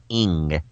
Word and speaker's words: Ng: I've always loved the Asian name Ing. It's spelled N-G.